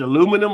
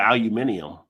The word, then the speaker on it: aluminium: it aluminum is it is it aluminum or is it aluminium aluminum no it's aluminum or aluminium some would say aluminium that is that is English or there's there's no I after the after the N aluminum okay aluminum aluminum oilum